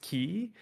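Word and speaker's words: χ: it's not the keyblade it's the letter like the x letter which is pronounced key so when you talk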